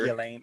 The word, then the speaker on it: Ghislaine: Jizzlane. I guess the S is silent.